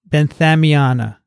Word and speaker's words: benthamiana: the koshiyama no koshiyana nicotiana yeah that's it benthamiana i should look at it while i'm trying